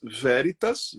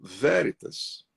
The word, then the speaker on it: Veritas: Que em alguns, eu pesquisei a pronúncia, algumas nações falam veritas, né? Mas Veritas, V, E de elefante, R de rei, I de isso, T de tatu, A de amor, S de sapo, Veritas.